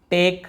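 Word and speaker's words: take: हम वहाँ पे ई यदि एंड में आता है हम पढ़ते ही नहीं है। जैसे है ना, यहाँ पे आपने देखा है टाइम, टेक, हम क्या बोल रहे हैं, टेक बस पढ़ लिया, हम वहाँ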